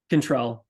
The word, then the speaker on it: Chantel: So Chantel, how to pronounce his first name again? Chantel.